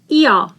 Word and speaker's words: Ihr: IH is pronounced as long E and H is not pronounced. Ihr. And here we again vocalize R.